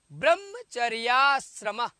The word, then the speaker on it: ब्रह्मचर्याश्रम: आप लोग उच्चारण करिए, बोलिए ब्रह्मचर्याश्रम, ब्रह्मचर्याश्रम। संधि हो गया ब्रह्म आचार्य, ब्रह्माचार्य, और ब्रह्मचर्य आश्रम, तो ब्रह्मचर्याश्रम, ब्रह्मचर्य धन आश्रम, तो क्या हो जाएगा, ब्रह्मचर्याश्रम।